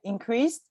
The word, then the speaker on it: increased: Okay, increased, Good. Yeah, so like this is that T sound, increased.